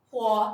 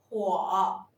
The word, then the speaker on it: 火: 火是物体燃烧时发光发热的现象。